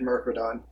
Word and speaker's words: Myrkridon: Is it Myrkridon or Myrkridon? I've always pronounced it Myrkridon. Yeah, I've always pronounced it that way Supposed as to well. rhyme with Myrmidon.